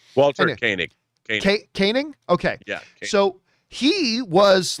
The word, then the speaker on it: Koenig: believe i always mispronounced his name but walter cohen is that how you pronounce chekhov's name walter koenig caning okay so he was like this had a